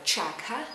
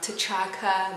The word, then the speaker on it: T'Chaka: And then his father's name is Chaka, okay? Not T'Chaka, not Shaka, okay?